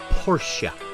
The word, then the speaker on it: Porsche: catching that Porsche pora it's pronounced Porsche not in my neighborhood it's called a Porsche and that's called 911